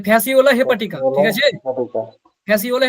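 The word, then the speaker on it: Fasciola hepatica: যকৃৎ প্রেমীর উচ্চারণ কি? ফ্যাসিওলা হেপাটিকা। ফ্যাসিও, এই যে ফ্যাসিওলা হেপাটিকা, ফ্যাসিওলা ঠিক আছে?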